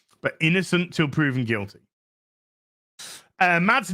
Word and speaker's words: Mads: Mads Nielsen, or I think it's actually pronounced Mass Nielsen, has become a member at the Bard level.